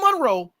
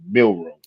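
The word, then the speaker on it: Milroe: Jaylen Monroe and you waiting on discount double check. I'm How you How you a fan and get the kid name wrong? Jaylen Monroe. Milro.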